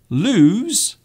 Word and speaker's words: lose: So we have lose and loose. So you can see these two words have very different pronunciations. Lose, loose, lose, loose.